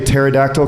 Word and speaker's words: pterodactyl: I would like to be a pterodactyl because then I could go to the bathroom quietly. The P is silent.